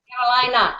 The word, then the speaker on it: Carolina: Carolina.